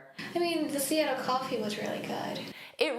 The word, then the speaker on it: Seattle: So notice that a is the stress sound. Sea. And the native speakers will pronounce those T's as a soft D and it sounds like do but it's an unstressed sound.